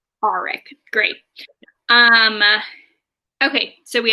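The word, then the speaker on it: Aaric: Some important people to note is that we have uh, Cam or Eric Greycastle. Eric, is that how the audiobook pronounced it? Auric. Auric.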